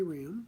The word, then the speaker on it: Raham: Ram. The R stands for, by the way. The last name is spelled R-A-H-A-M.